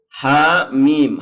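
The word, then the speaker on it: حم: surat 40 sampai 46 maka cara bacanya H mim ha mim ha-nya 2 harokat karena ada hak berharakat fathah kemudian Alif makanya ada semacam tanda kaya bendera itu menunjukkan panjang lebih dari dua Kalau ditulis begitu kalau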